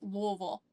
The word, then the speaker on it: Louisville: You always want to sound like you have something in your mouth, like you're chewing on something. Louisville, like you're spitting something up.